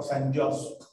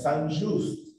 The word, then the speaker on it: Saint-Just: realidad se conoce como Saint-Just, porque la gente lo pronuncia como si fuera inglés, pero es francés, es Saint-Just, ¿verdad?